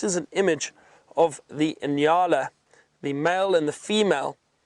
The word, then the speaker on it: nyala: And there's another species of antelope we find in this area known as the Inyala. That is spelt N-Y-A-L-A, Inyala.